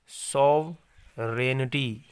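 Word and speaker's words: sovereignty: सॉवरेनिटी, जी इसमें silent है, जी इसमें साइलेंट है, ये लिखा तो जाएगा, पढ़ा नहीं जाएगा।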